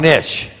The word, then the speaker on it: niche: your hand Niche or niche n Niche n Niche N I use Niche cuz it rhymes with Rich and a niche will